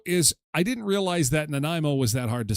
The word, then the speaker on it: Nanaimo: Listen carefully, everyone. It is Naimo. Nimo.